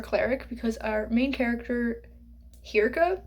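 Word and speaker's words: Hirka: because our main character Hira is how I pronounce it h i r k a not sure if that's the actual pronunciation cuz I don't speak Norwegian but that's what it looks like to me she is a Healer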